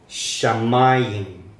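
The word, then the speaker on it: שָׁמַיִם: Entonces ahora miramos que el puntito está del otro lado, es Sha. Sha, esta es la A, aquí, A. Es vocal, por eso fueron agregadas después. Sha, ma, esta es otra A, shamayim. Ahora en este caso sí pronunciamos la Y, la Yod.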